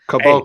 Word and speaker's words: Caboclo: How is that pronounced? Caboclo.